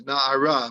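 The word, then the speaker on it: נער: It's we read it as Na'ara, but there's no hey at the end. We just pronounce it without it being there.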